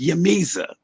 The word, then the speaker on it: J'mezah: later, but it's pronounced Yamiza.